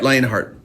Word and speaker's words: Lionheart: of the previous album uh lionart or lionhearted if I say it right thank you um you're right lionart um and a few